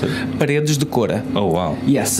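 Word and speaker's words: Paredes de Coura: Because how do you pronounce it? Paredes de Cora.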